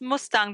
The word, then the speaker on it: Mustang: It's pronounced Mustang, but it's spelled like the car Mustang.